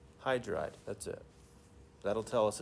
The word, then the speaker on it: hydride: to IDE we're not we're not going to call it hydrog too many syllables right hydride that's it that'll tell